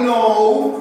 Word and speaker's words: know: I know. Acuérdense, este verbo saber o conocer se pronuncia como una N o U. Know. No, en los videos no me lo digan diferente. Díganme know.